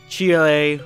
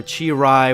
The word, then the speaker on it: Cheelai: But Cheelai, or Chirai, whichever way you want to pronounce her name, and Broly, yeah,